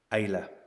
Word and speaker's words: Islay: Islay is how it's spelled, or spelt, whatever way you want to put it. And it's pronounced Islay.